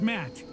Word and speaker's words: Matt: not an inch less the name's Matt the second te is silent okay Matt I'm going